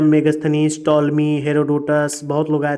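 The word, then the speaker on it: Ptolemy: टोटलमी मैंने टॉलमी बोलते हैं इनको, पी साइलेंट होता है, सॉरी, है ना।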